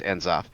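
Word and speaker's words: N'Zoth: I'm not sure how to pronounce that one with the N on the right there. Enzoth? Enzoth. Okay, so it is just Enzoth.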